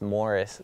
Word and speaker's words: Morais: I guess the I or the A kind of throws everybody off, but the proper way to pronounce it is just Morris.